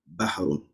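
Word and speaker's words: بحر: We have nahrun and then we have bahrun. How you can see, they are similar in pronunciation. Nahrun and then bahrun.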